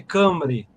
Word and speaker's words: Cymru: Cymru, mas se lê Cambre.